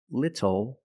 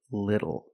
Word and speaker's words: little: When you see TLE or TTLE, phonetically the T is between vowels. And for this reason, the T changes to a fast D in American pronunciation. That's why we do not say little, we say little.